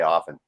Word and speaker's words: often: not as hot see i don't pronounce the t and often i say often that's the only difference